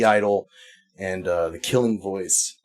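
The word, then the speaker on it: (G)I-DLE: Uh, the other one that I will give you is a group called the name, it's just pronounced Idol, but if you're looking for it, look for G Idol.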